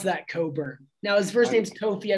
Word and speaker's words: Cockburn: he's phenomenal we just need to say it's coburn how do you pronounce that coburn now his first name's toffee i believe he's